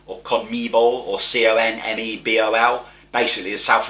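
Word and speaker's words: CONMEBOL: coming ball it might not be how it's pronounced it might be con mere ball or con me ball or c-o-n-m-e-b-o-l basically the south american football federation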